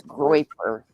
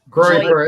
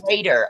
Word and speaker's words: Groyper: It's Groyper. Groyper. It's basically Nick Fuentes. Goiter. I was doing a hard G. I was doing like goiter.